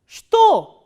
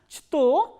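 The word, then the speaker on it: что: So, here this ch sound is, ch letter is pronounced as sh, sh, not as ch. So, now try to pronounce this word shto, shto. So, instead of pronouncing is as chto, we are pronouncing is as shto.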